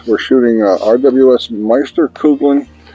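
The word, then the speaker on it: Meisterkugeln: We're shooting RWS Meister Kouglin or Kouglan. So hard to say that. I believe that's the correct pronunciation.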